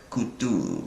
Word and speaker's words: Cthulhu: Lovecraft transcribed the pronunciation Cthulhu as Cthulhu and said the first syllable pronounced gutturally and a very thickly. So like Cthulhu, right?